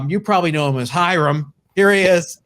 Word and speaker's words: Hiram: i call him hiram his name is actually pronounced hiram because he's from he's from cuban he has cuban heritage but everybody else he says calls him hire him so call him hiram from hiron's collectibles on